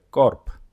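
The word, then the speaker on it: Korb: যেমন বে বর্ণটি শব্দের শেষে পে এর মত উচ্চারিত হয়। করপ। এখানে উদাহরণ আছে করপ।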